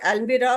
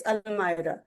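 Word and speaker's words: almirah: We usually call it अल्बिरा बट इट्स अलमाइरा।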